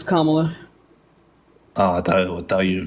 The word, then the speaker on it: Kamala: I didn't like um Kamala uh that's not how you pronounce her name it's Kamala Oh I thought thought